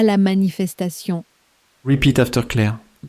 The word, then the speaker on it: manifestation: You'll hear the English inside it, stretched over 5 elegant syllables. La manifestation. Your turn, lean on the last syllable. La manifestation.